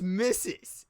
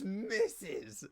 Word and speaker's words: Mrs: say the word right how do you pronounce m-r-s like if you're talking to a woman and she's married in mrs and then her last name's like tommy blink tell me how would you pronounce that because this is like a running j yeah this is tommy so it's missus it's misses like dude i have lived